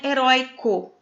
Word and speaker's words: herói: chamei sua atenção para palavrinha heróico heróico é paroxítona e não tem mais conserto porém herói ele não é paroxítono ele é uma palavrinha oxítona quando a sílaba tônica é